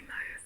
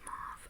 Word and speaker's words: Marv: I think Australia would say Mauve, but she pronounces it Marv.